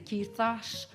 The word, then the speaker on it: quizás: Now, if you lived in Spain, you would say quizás, quizás, quizás. And if you were from a village in Nicaragua, you'd say quizá, quizá, Quizá. So, didn't I just complicate things for you? Just pronounce the Z and the S like S's. It's fine.